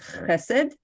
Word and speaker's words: Hesed: It's a hard word for many people who don't speak Hebrew to start off and say it correctly, which is Hesed.